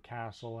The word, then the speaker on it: castle: T is a silent letter in some English words, like in castle and often. Some people say often, but other people say it without the T.